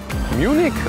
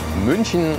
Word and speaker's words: München: Munich or Munchin in its original German name.